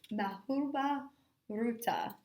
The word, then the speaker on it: Mahabharata: The most famous epic poem are and like I said, I'm going to have to look up how to pronounce this correctly. I think it's Mahabharata.